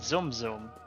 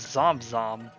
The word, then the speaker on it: Zom Zom: The man himself pronounces it zoom zoom, but Scarlet from Sako Bay Adventure says Zom Zom.